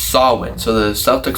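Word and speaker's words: Samhain: So I looked it up and it's pronounced Sawin. So the Celtic Sawin Festival.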